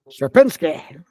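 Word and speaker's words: Sierpiński: you can hit and hear the correct pronun pronunciation of his name supinsky supinsky shinsky got a little bit of a flare to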